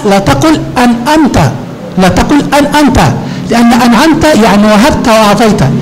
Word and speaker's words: أنعمت: Jadi kebanyakan bacanya an'amta. An'amta, amta. Amta itu dia hamzah. Nah, nggak ada maknanya, tapi kalau an'amta artinya engkau berikan. Jadi di sini perhatikan pada an'amta ainnya jangan sampai diganti menjadi hamzah.